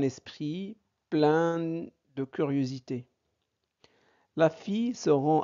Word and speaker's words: fille: le Son y bon i suivi de deux l se prononce i exemple une fille voilà la fille fille